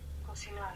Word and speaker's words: cocinar: Cocinar. cocinar with the accent on the end.